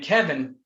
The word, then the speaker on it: Kevyn: And Kevin is Kevin. I mean, it's spelled different, but it's Yeah, Kevin.